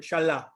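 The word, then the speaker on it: שָׁלַח: 79 71 and that is the hebrew word shalla and i'll prove it there it is the hebrew word this is the pronunciation again strong's h 79 71 so that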